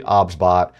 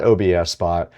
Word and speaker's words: OBSBOT: The pronunciation of the product is actually OBSBOT. It is not OBSBOT.